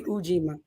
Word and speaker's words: Ujima: It's supposed to be Ujima, but I say Ujima.